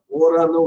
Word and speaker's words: aura: ஏயுஆர்ஏ அப்படின்னா இந்த ஆறான்னு சொல்றதுக்கு இதுக்கு சம்மந்தமே கிடையாது. இந்த இடத்துல ஓரான்னு உச்சரிக்கணும் பிரெஞ்சுல. இந்த ஓரா அப்படின்னா வில் பி அப்படிங்கிறதுடைய அதாவது ஃபியூச்சர் டென்ஸ்.